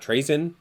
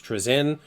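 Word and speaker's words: Trazyn: And then we have Trezen, which I found out that's actually how you say his name. It's not Train, it's Trezen.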